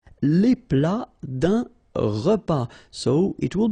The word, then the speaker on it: plat: Then un plat principal, final T here not pronounced.